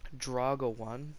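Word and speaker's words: Druaga1: I actually haven't watched him for a while, but his name is Draga1, or and it's spelled D-R-U-A-G UA, I think Draga, and then 1 at the end.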